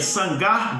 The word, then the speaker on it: Samgar: do pai dele então vamos se pronuncia sangar bem a Naty está dizendo sangrar filho de anat Ah entendeu agora pois